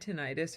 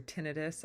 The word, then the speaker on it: tinnitus: I had tinnitus, or tinnitus, I guess it's pronounced, but I've always read it as tinnitus because we're just going to call that an accent thing.